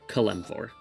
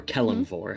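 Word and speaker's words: Kelemvor: K E L E M V O R Kmpor or Kellumfor, however you want to pronounce it.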